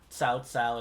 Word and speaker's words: Cao Cao: went with the correct pronunciation, quote unquote correct pronunciation. Cao Cao and Cao Pi.